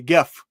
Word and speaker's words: GIF: a very very popular GIF and I say GIF for those of you out there that thinks it's pronounced like a peanut butter um we usually give